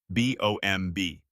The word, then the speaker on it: bomb: B O M B. The B at the end is silent.